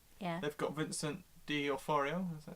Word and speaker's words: D'Onofrio: They've got Vincent D'Onofrio.